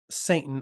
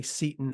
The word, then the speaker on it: Seton: You say Satan, I say Seton as in Seton Hall, because it's spelled the same.